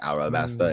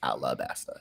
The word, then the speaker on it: Alabasta: It's a wiki, so I mean, It's translation because the way the Japanese say it is Arabasta, and then pronounced in English it's Alabasta.